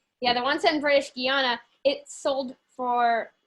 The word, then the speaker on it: Guiana: i forget how to say it can you guyana yeah you said it right you said on another video and got it right so okay yeah the once in british guiana it sold for like eight million seven million